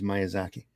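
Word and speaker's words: Miyazaki: gents uh M Zaki Miaki was I pronouncing it wrong I it's myazaki Marvy in the house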